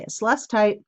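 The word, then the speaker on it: celestite: gorgeous in real life Celeste tights let's take that's how you say it's less tight is absolutely phenomenal for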